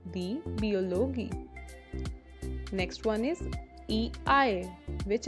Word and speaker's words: Biologie: Next is IE, which is always pronounced as E, die Biologie, die Biologie.